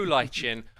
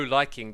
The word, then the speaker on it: lichen: This is known as the glow lichen or the glow liking, depending on how you want to pronounce it.